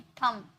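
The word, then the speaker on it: thumb: जैसे कि थंब, यहाँ पर MB है ना, MB है, तो यहाँ पर जो बी है ये साउंड इसका नहीं है। क्या थंब बोले? नहीं, थंब, ओके, थंब, अंगूठा।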